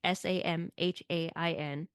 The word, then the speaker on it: Samhain: It's spelt that way, Samhain, but it is pronounced Samhain.